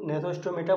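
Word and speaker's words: Gnathostomata: तो अगर जॉ में प्रेजेंट है तो नेथोस्टोमेटा बोलते हैं। अगर यहाँ पर जी साइलेंट है, नेथोस्टोमेटा में जी साइलेंट है, और अगर जो एब्सेंट है तो हम एग्नेथा बोलते हैं।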